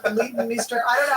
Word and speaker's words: Leighton Meester: Leighton Meester? Leighton Meester. Leighton Meester.